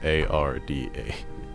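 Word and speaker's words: Ardah: This is Arda. You are in the town of Riversteain. Okay. Arda. I'mma just I'mma just write it off phonetically cuz I don't. It is a R d a h.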